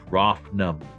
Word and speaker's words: Rofnum: Like my name, it is Rofnum. Rofnum? Rofnum. Rofnum. Say it with me. Name? Rof. Rough name. Rough name. Rough nom. R-O... No. Phonetically, R-O-F-N-U-M. Rofnum.